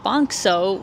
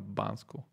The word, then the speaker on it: Банско: Sofia, and then also Bankso, which is where this really famous. Тук обърка доста произношението на Банско.